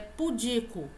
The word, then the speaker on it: pudico: só bandeja a pronúncia pudico galera a palavra não e proparoxítona a sílaba tônica Não é esse po a sílaba tônica de então a pronúncia correta é pudico o que vem a